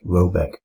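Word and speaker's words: Råbäck: garden question is to be called were that pronounced something like Robeck though that is not its name it is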